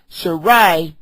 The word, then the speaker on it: Sarai: Abraham as for sharai the pronouncing of her name before it was changed sharai meaning that with that eye on it it's like a possession